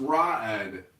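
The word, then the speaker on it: Raed: You say you're still Take the trying to mask figure out, off, am I Reed. unexplicable. Yo, Reed, chill. Yo, Reed, calm down. It's pronounced Ra'ed.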